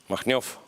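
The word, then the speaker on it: Makhnev: How do you pronounce Machnev? Machnyov.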